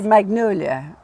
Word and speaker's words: Magnolia: So we say magnolia, because we don't say soft G's like the French do, or sort of how they say them.